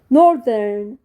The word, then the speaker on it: Northern: بالانجلش شمال يعني نورت نورت نورت التي اتش بتتنطق حرف الث طيب شمالي شمالي نورذرن نورذرن نورذرن التي اتش في كلمه شمالي بتتنطق